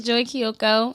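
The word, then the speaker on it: Joi Keioko: right there you know how to say it's Joy Kyoko I'm here on the two things podcast say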